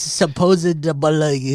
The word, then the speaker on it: supposedly: No, you're forgetting the B. Wait, hold on. Supposed. Why do you say it like that? You're forgetting the B. There's no B. There's a B. No. It's supposedly. There's never been a B.